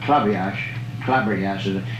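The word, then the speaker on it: Klabberjass: And the game that Damon Runyon used to write about all the time, Clabriage, it's K-L-A-B-B-R-J-A-S-S. It's a funny, it's pronounced club. They call it club.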